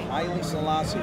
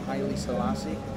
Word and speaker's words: Haile Selassie: I could never pronounce the name correctly. Haile Selassie.